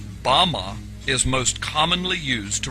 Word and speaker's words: bama: which satan fell is strong's hebrew word 1116 pronounced bama bama is most commonly used to refer to a